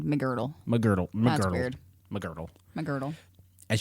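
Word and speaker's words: Megrdle: And I was trying to figure out how to pronounce that, but it's McGirdle. There's no I in McGirdle.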